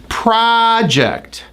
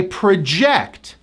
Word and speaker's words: project: on the first syllable project project I am working on my science project it's a huge project when the stress is on the second syllable it's a verb I project project I project that